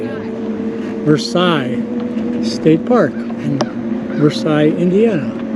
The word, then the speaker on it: Versailles: vers I don't know how you say it versai State Park in Versailles Indiana can I ask you a question of course how do you pronounce where we're at oh Versailles Versailles that's what I thought it was we're